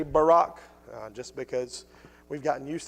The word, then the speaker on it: Barak: There's a lot of different ways to pronounce it. I say Barak, just because we've gotten used to saying that name in our culture.